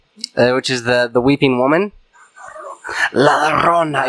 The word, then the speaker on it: La Llorona: La Llorona. You have to say it like in hushed, whispered tones.